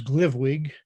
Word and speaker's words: GLVWG: lehigh valley writers group we refer to ourselves as glivwig that's our nearly unpronounceable no vowel acronym and our mission is